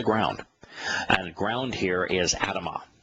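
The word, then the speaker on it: אדמה: and ground here is Adama it's written the same way as Adam with the addition of the Hebrew he which is pronounced ah at the end of the word typically the ah makes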